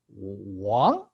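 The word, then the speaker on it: 亡: Okay, by itself is pronounced as Wang.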